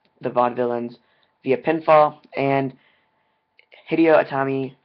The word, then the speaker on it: Hideo Itami: vaudevillains via pinfall and hideo atami hideo atom hideo tommy that's how you say it i'm sorry hideo tommy